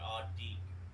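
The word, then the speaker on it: adiik: So yeah, adik would be the pronunciation for someone 3 to 13. So anytime you see an I, it's pronounced as in an E.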